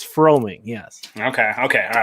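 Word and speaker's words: Froemming: it's it's tricky for baseball people but it's froming yes okay okay all right i will try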